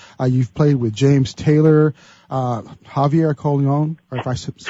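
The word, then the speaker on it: Javier Colón: You've played with James Taylor, Javier Colon, or if I'm pronouncing that right, from The Voice, the winner of The Voice.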